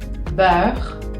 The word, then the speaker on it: beurre: hacer ese sonido E, pero si yo la encuentro como en la palabra manteca, como pueden ver acá, beurre, beurre, se dan cuenta que no es tan cerrada y es un poquito más abierta.